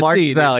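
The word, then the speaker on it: Marczell: I was thinking Mark with a C. Mark Zel, yeah, yeah, yeah. His name is spelled m a r c z e l l, but um, really great friend of mine.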